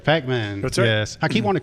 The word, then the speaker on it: Packman: team oh yeah people sounds like we call pac-man yeah it's pac-man just so i pronounce